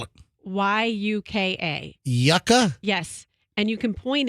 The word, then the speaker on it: Yuka: that I'm obsessed with now and it's called Yucca or Yuka and so you can point it how do you spell it y-u-k-a Yucca yes and you can point it on any